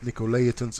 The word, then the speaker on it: Nicolaitans: this is a little bit different writing about Nicolaitans is the way that you pronounce this we can read off that of